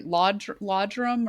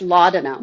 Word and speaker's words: laudanum: I'm going to pronounce it probably incorrectly. Laudrum or they it's like a sleeping Oh, yes, laudanum.